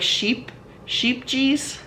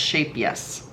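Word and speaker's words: Scheepjes: It's actually pronounced Shapejes because the J's are pronounced like a Y.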